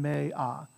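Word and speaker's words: mea: So it's me-um, right, and me-a, right, gloria, so you pronounce every vowel, gloria.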